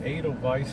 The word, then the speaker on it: Edelweiss: Just Edelweiss. like the Sound of Music.